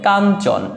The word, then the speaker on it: কাঞ্চন: এটার উচ্চারণটা তাহলে কি হবে, কাঞ্চন, অর্থাৎ ইওর জায়গায় ন উচ্চারিত হবে।